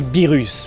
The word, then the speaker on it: Beerus: Je sais maintenant prononcer Beerus, voilà, merci à vous.